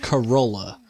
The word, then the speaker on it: Corolla: So first up, we have Corolla. Kind of rhymes with granola, if you think really hard about it. Actually, don't even think that hard. I think it actually does rhyme.